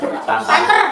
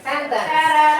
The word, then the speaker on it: sentence: Santan. Kalau yang santan katanya. Masuk deh yang coba-coba. Adik, ini tulisannya sentence bukan santan ya, bukan santan. Nah, ini sentence. Bacanya sentence.